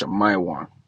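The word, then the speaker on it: שִׁמְעוֹן: simeon and levi are brethren all right simeon in the hebrew is pronounced shamaiwan all right it was translates to affliction hurt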